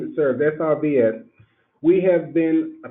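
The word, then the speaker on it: SRVS: And we are pronouncing it SERVES, S-R-V-S.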